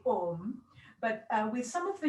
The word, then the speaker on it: om: but then when the a and the u combine it becomes o so when we're chanting it a properly we always say om but with some of